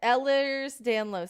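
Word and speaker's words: Ehlers-Danlos: ed Ellers Danlo syndrome. No, it doesn't have anything to do with Ellen, but that's just how you can how you can uh remember how to say it.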